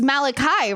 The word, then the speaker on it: Malachi: like, wait, so is the real book is pronounced Malachi, right?